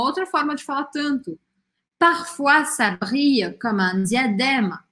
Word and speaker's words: parfois: Parfois ça brille comme un diadème, algumas vezes. A palavra parfois significa algumas vezes. Parfois, olha só, a gente viu, oi tem sempre som de uá em francês, tá?